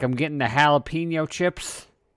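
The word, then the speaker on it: jalapeño: like I'm getting the jalapeno chips excuse me it's pronounced Jalapa no I'm buying sandwiches and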